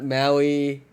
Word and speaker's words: Maui: but that one looks great in person yeah Maui I think I can pronouncing that right yes you are yes oh